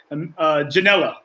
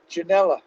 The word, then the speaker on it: Ginella: I want to make sure I'm pronouncing your last name correctly. Ginella. Ginella, correct.